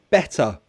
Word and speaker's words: better: Better. I will say water. Better. There are 2 vowel sounds between the T. So I pronounce it as a true T. Water, better. However, Cockney might do it glottally.